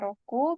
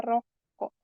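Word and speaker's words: 六: Roku atau 6 itu cara bacanya bisa Roku, bisa juga Mutsu, bisa juga Roko. Roku, Mutsu, Roko.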